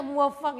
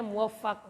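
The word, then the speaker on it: مُوَفَّق: Kok muwaffaq, kok ini dibaca muwaffaq, ya sama Pak. Anak dulu di level jenengan masih, oh ini baru. Ternyata bacanya muwaffaq. Nah, karena yang muwaffiq itu Allah yang berikan taufik.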